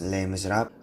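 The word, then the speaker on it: Les Misérables: So Les Miserables or Les Miserables, I don't know how to actually pronounce it, but yeah. Future Lauren here, it's actually pronounced Les Miserables, which is pretty cool.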